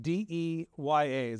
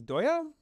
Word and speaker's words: Deye: I think I think the way it's it's pronounced in Chinese is doya potentially uh doya sounds